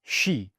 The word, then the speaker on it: Ski: had it before ski ski in German for whatever reason is pronounced she you can't change it